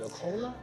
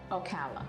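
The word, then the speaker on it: Ocala: How you pronounce Okola? Okala.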